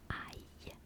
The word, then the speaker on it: ail: In French, garlic is ail, ail, ail, ail.